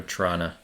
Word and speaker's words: Toronto: is silent the first one you have to pronounce yeah it's more of a Trana yeah oronto oronto yeah orano Here's a thought